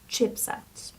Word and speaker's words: chipset: singular form would be chipset chipset chipset as you can see the stress is on the first syop and it's micro and